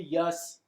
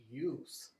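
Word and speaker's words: Yuss: Now, I have to ask, is your last name really Yus? It is spelled Y-U-S-S, Mhm. but it is pronounced use, like single-use plastics, which are bad for the environment, by the way.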